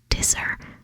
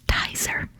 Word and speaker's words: Tizer: British soda video because I pronounced one of the sodas dier apparently it's tier tier as an appetizer short for appetizer I'm so sorry sorry